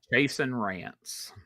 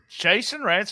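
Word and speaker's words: Chasyn Rance: How do you pronounce his name? Chasen Rance. Chasen Rance.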